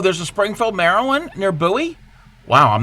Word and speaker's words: Bowie: a like a postal code and yes we pronounce the word b o w i e buoy when it comes to the the town and